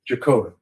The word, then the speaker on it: Jagotka: Jacoda. How do I spell that?